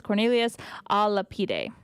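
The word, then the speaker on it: Cornelius a Lapide: By the way, Adrian did send me the pronunciation of the gentleman. It's Cornelius Alapide.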